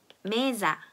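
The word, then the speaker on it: mesa: 그런데 모음과 모음 사이에 오면 지읒으로 발음이 된다라고 했어요.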